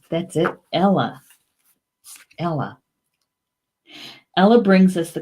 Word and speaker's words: eala: He says, I forgot how to pronounce it in Gaelic. Hang on. Gotta get to the Gaelic. The swan. Eala. That's it. Eala.